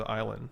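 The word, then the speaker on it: Islay: that comes from the Iowa side of the island nice it's it looks like it's it's is l8 y but it's pronounced Isla okay and it's where the smoky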